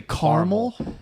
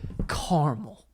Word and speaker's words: caramel: caramel I hate when people say caramel caramel that's not well if you say caramel Mikey you want to do a double-take yeah look at the word again you want to spell it out there's another eight I know caramel oh man I